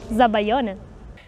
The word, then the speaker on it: Zabaglione: Okay, Ilaria, tell us how it's pronounced. Zabaglione.